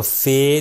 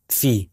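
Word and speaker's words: فِ: فی، فی۔ ٹھیک ہے، اس کو فے نہیں کہیں گے بلکہ کہیں گے فی۔ تو یہ ابھی تک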